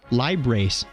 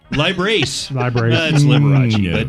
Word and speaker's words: Liberace: this date in 1990 I think it's pronounced ly brace lie brace yes also born 93